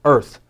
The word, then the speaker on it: Earth: S sound Earth now here's a weird one this is one of the times that art doesn't sound like art it's not art it's Earth that's dirt on the